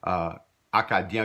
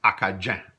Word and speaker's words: Acadien: Although in Old Acadian French, Acadien would be pronounced Acajun with that same J sound as we see here.